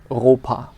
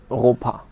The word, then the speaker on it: Europa: EU is pronounced oi. So for example, Europe in German would be Europa. Europa.